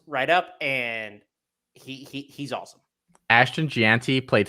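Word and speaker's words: Jeanty: Gianti.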